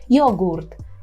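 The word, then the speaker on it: jogurt: йогурт так йогурт єдине Пам'ятайте про цю букву г Яка не вимовляється в польській як г так ми повинні вимовляти Ґ йогурт йогурт остання полюбила йогурт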